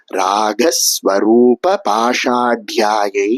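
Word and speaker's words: ராகஸ்வரூபபாஷாட்யா: சகஸ்ரநாமத்தினுடைய எட்டாவது நாமமாக இருக்கு இந்த நாமத்தை எப்படி உச்சரிக்கணும் அப்படின்னா ராகஸ்வரூப பாஷாயாயை நமஹ அப்படின்னு சொல்லணும் ராக அப்படிங்கற வார்த்தையில வரக்கூடிய க சமஸ்கிருதத்தில மூன்றாவது கவா இருக்கு பாஷாட்யா அப்படின்னு சொல்லப்படக்கூடிய இடத்துல அந்த இட்டு நாலாவது டவா இருக்கு இத நாம கவனிச்சுண்டு அடுத்த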